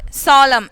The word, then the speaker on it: solemn: t are silent in the words handkerchief kabod solemn and the cells respectively okay so uh today